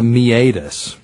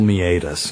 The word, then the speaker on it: meatus: What's the meatus? But it's spelled meatus, M-E-A-T-U-S. So that's great. A few people have mispronounced it meatus.